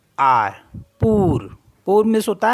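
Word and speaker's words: pour: वू वू मीस यू पी ओ यू आर पूर पूर मीस होता है फॉर एंड सी ओ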